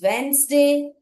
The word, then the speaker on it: Wednesday: But yes, letter D is also silent with the N sound before or after letter D.